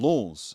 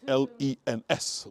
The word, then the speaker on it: Lens: Went to a place called Lens, so it's spelled L-E-N-S, Lens, not Lawn, which was near here, L-O-A-N, different place.